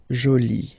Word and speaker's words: jolie: And then you get joli, okay? So you can see that you put this E, but then you don't pronounce it, okay?